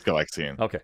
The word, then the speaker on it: Galaxian: galileo galaga because yeah and then it's galaxian lexian or do you say galaxy it's galaxian hold on hold on